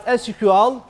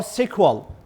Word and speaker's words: SQL: the relation relational database so it can pronounce as SQL or sequel as if you all